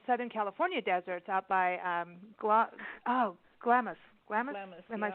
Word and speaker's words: Glamis: and up in Southern California deserts, out by Glamis.